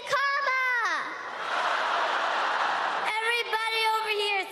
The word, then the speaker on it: Kamala: Everybody on the, everybody over here, say Kamala.